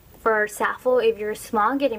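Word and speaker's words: Zaful: By the way, some people pronounce it Zalful, some people pronounce it differently, but I pronounce it Zalful, so bear with me.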